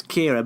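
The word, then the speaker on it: Qi'ra: She's simply referred to as Kira, but it's spelt with a Q. Yeah, well, I think it's got like a weird Star Warsy spelling that makes it look harder to pronounce than it really is.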